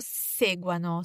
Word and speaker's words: seguano: And the loro form, che loro seguano. So again, we want to emphasize the stem when it comes to loro.